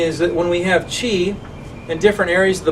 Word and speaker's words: qi: So you spell it C-H-I or Q-I. It's not cheese. It's qi.